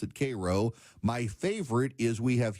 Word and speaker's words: Cairo: It's spelled Cairo, but they pronounce it Cro.